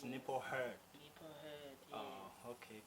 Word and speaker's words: Nipho Hurd: Igama lakho ngilipronounce kahle or? Yes. It's NIPHO, HURD.